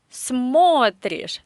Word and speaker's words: смотришь: Ты смотришь. The stress is on the first syllable.